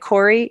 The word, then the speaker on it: Corry: And Corry, it's so Canadian. We always say sorry. So it's spelt like sorry, but with a C, C-O-R-R-Y.